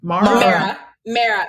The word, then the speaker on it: Mara: Mara like marinara sauce. Okay, so it's Mara. Mara. I love Mara. That she was actually just in Miami last week, so that's my girl. Let's see, Mara, Shanae, and Sarah.